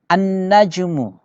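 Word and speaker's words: النجم: itu tidak di tidak dibaca Tab atau jeruk an najmu ya an-najm alqamaru raining lihat Al Qamar Ul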